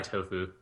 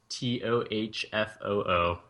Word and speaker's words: Tohfoo: Also called, how do you pronounce her name? My tag? Yeah, your tag? I go by Tohfoo.